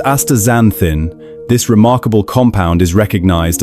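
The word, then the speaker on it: astaxanthin: Aexanthin, pronounced aazanthin, this remarkable compound is recognized as one of the most potent natural antioxidants found anywhere on our planet.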